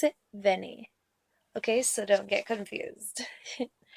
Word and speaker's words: Vianne: It's Chocolat, and I'm gonna be talking about the main character, correctly pronounced Vianne, and how I pronounce it, Vianne.